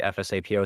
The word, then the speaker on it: FSAPO: like I always say fsapo it's actually pronounced as it's spelled the sapo uh it